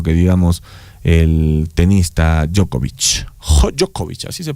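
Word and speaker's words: Djokovic: Jokovic, así se pronuncia el chinchilisco.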